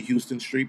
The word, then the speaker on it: Houston Street: When they say shit wrong, like Houston Street, it's actually Houston Street, but whatever reason people keep calling it Houston.